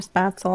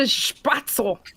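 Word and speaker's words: Spätzle: thank you for making spatzle i always did that by hand you got you can't say it like that you have to spatzle oh no they don't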